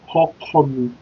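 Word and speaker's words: Ọkọ mi: So the spelling of Okomi is O-K-O-M-I. So sound like Okomi.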